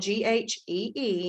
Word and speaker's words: ghee: ghee butter is about 25 mcts ghee spelled g-h-e-e and pronounced ghee is butter it's just been clarified